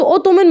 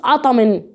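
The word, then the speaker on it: autumn: هنا ليه قلت اوتومن ما قلتش اطمن؟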